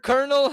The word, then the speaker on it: colonel: colonel which the word Colonel has always pissed me off cuz it's spelled c o l o n e l and we pronounce it colonel where does the r come from well I found out